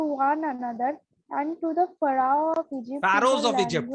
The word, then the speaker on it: pharaoh: Pharaohs of Egypt, pharaohs, ph को हमेशा f pronounce करो, ठीक है। फोन, फोन होता है ना, फोन, फोन का स्पेलिंग क्या है, PHONE, but how do we pronounce it, phone, है ना, so whenever you found ph, pronounce it with an f, pharaoh, ठीक है, okay, pharaoh